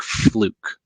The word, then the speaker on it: Fluke: How does the BCM compare to instruments that you can buy from companies like Fluke? I think I'm pronouncing that right.